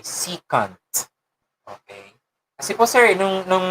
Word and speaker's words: secant: Ang tama pong pagbigkas po dyan ay secant.